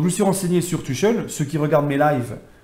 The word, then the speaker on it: Tuchel: seront là, à savoir Thomas Tuchel ou Tuchel, pour ceux qui veulent le prononcer à l'allemande, la Dutch Qualität comme on dit. Moi personnellement les amis, je vais le prononcer à la française. Voilà, Tuchel.